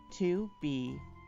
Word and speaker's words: 2BR02B: The 0 in the telephone number he pronounced not. The number was 2BR02B.